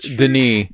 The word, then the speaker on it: Denis: I've always said Villanueva, but there are times whenever you watch interviews, whenever someone says Denis, because it's not Dennis either, it's Denis.